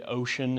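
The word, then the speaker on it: Wouxun: It's used, it's called it looks like Watson, but I think you actually say Ocean is how you pronounce that.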